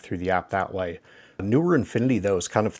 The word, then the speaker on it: Neewer: I guess that's on their website how it's pronounced newer infinity and then 2.4 GHz uh connection and